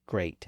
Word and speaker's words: great: make and case and also the same vowel sound is that handful of words spelled with EA like great and steak all of those words